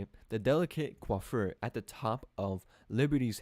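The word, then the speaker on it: coiffure: The delicate quaffur. Yeah, that's how you say it. The delicate quaffer at the top of Liberty's head required many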